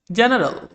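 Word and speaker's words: general: যেমন জেনারেল, এখানে দেখো জি এর পরে ই রয়েছে, সেজন্য এটার উচ্চারণ জয়ের মতো হয়েছে।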